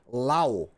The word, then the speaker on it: Laos: O país se escreve L-A-O-S e eu vou me referir a este país como Lao. Laos está errado. Não exatamente. Não está errado. Mas, como eu não consegui encontrar um consenso a respeito da pronúncia, e como eu tenho certeza que as pessoas do país em questão chamam o próprio país de Lao, eu optei pela pronúncia que eu tenho certeza.